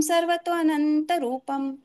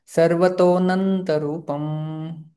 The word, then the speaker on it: सर्वतोऽनन्तरूपम्: अनेक बाहूदर वक्त्र नेत्रम पश्यामि त्वां सर्वतोऽनन्तरूपम् नान्तं न मध्यं न पुनस्तवादिं पश्यामि विश्वेश्वर विश्वरूपम्। गुड। यहाँ पर जैने मैंने मैंने बताया कि ये अ का उच्चारण नहीं करना चाहिए। सर्वतोनंत रूपम।